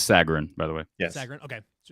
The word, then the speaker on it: Sagarin: for basketball so they both do conference ratings pronounce Sagarin by the way yeah okay so I went